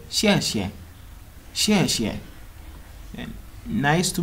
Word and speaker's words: xie xie: You just say xie xie, xie xie.